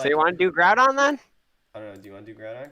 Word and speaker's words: Groudon: just make groudon team some people pronounce it groot on and i'm like bruh what the freak it's it's groudon it's white like literally